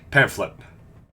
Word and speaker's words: pamphlet: Pamphlet. Pamphlet, we got at the front desk. For some fucking reason, PH in English makes an F sound because we hate everyone else.